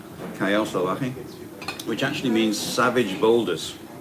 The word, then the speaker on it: Callao Salvaje: Germany, Callao Salvaje, or Callao Salvaje. It's spelled with double L, but it's pronounced with a Y. Callao Salvaje, which actually means savage boulders, or savage pebbles, I like to think.